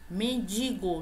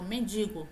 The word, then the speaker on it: mendigo: Mendigo, não existe esse N aqui antes do G, é só mendigo, nada de mendigo.